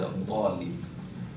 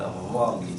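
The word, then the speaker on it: الضالين: Al-Dhalin, the word Dal, it is pronounced without having the tip of the tongue going out. Right? So we say, well, Al-Dhalin. But some people in some countries, they would say, well, Al-Dhalin, so they would bring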